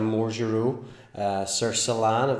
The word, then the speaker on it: Marjureau-Sercillan: got a red border to tears today shattered more Giroux sir Solana that's how you pronounce it Bordeaux superior so what does Bordeaux